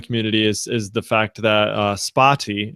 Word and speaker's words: Spatie: is the fact that Spatie, is that how you say it? Spatie? Spatie. Spatie. Yeah, that's pretty good.